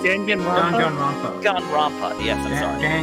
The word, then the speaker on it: Danganronpa: Dragon Ropa, I think it's how it's Oh, pronounced. Danganronpa? Danganronpa.